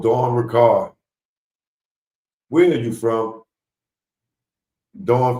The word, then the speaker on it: Richard: Dawn Richard, some of y'all may call her. But she said it's pronounced Ricard, right?